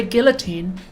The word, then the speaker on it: guillotine: Why do the British say guillotine? Because it's got an L in it.